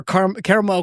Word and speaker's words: caramel: The Lancaster Caramel Company or Caramel depending on which way you want to want to say it.